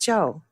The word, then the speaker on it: Chou: so I can't bring myself to say where's Cho when it's pronounced Jo Jo Jo yeah so my Chinese name is